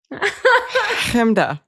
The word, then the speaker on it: Hamda: Chemda.